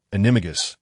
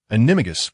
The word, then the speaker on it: Animagus: Point the tip of your wand at your heart, recite the incantation Amato, Animo, Animato, Animagus, and then drink the potion.